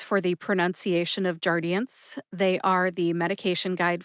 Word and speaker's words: Jardiance: brand name which is jardian jardian has three syllables jar like a jar of honey D like the letter in the alphabet d and n like